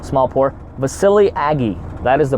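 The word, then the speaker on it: Vasiliy Agiy: a clip pronounce my name small poor but silly Agee that is the pronunciation - my name it's an Ukrainian named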